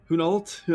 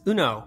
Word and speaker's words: Hunault: How do you say it? It's Uno, but, close enough.